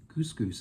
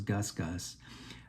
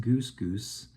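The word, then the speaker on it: GusGus: electronic band uh gogus Goose goose is how it's pronounced I always thought it was Gus Gus but it's pronounced Goose goose and they're out of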